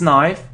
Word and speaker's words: knife: So you see, it isn't knife, it's knife. So if there is this combination K and N, so it sounds like N, knife.